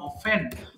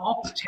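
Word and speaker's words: often: একটা good English হচ্ছে হাউ অফেন অথবা হাউ অফটেন হাউ অফেন হ্যাঁ হাউ অফেন ইউ ডু ইউ গো to village দুটো উচ্চারণই সঠিক হাউ অফেন অথবা হাউ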